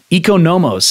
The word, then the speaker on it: Economos: Economos is the correct way to pronounce this word, or very likely the